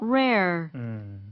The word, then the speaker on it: rare: 앞에는 비슷하지만 뒤에는 er가 없어지니까 rare 이런 식으로 하면 됩니다.